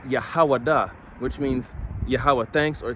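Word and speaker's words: יהודה: says Judah okay Judah when you go to the Hebrew Judah is pronounced yahawada which means yahuwah thanks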